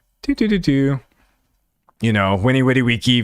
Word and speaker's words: Veni Vidi Vici: You know, Winnie Witty Wiki, Veni Vidi Vici, however you want to pronounce it, which basically just means like I